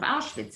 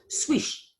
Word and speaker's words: Auschwitz: the geographical position of Auschwitz, and in fact, even of its name, which Lorenzo didn't know how to write, and he pronounced it Swish, perhaps placing it near Switzerland.